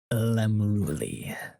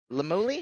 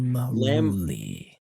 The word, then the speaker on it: Lemruli: The name is Lemruli. Lamuli? Am I pronouncing that right? Lamruli. Lamruli. Lamruli. Got it.